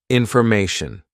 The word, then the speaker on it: information: we're teaching pronunciation so how does tyan actually sound because it's a Tio n right it sounds something like this sh Shin ton okay so just say Shin Shin next mation good